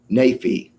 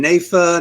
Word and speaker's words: Naifeh: me a little problem what is the correct pronunciation of your last name nafi nafi i was going nafa nafi nafi great thank